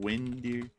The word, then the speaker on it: Winder: He said, check air crane in Winder, Georgia for neat helicopters. An air crane. Where is that again? In Winder, Georgia. How do you spell that? Like wind, E-R.